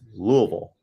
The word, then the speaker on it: Louisville: I still say Louisville. It's Louisville, to get the pronunciation correctly.